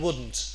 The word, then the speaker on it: wouldn't: Now the T in wouldn't often gets dropped here, and this word begins to sound like the material wooden, like a wooden table, for example.